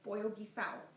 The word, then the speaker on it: pollo guisado: a chicken stew and in Spanish it's called boil he's odd but I grew up with my mom calling it boy hoagie south so I call the